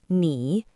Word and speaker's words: 你: One is ni, and the other is nin. Let's practice reading them. Ni, ni, ni, nin, nin, nin. Both ni and nin all mean you. The difference is the tone.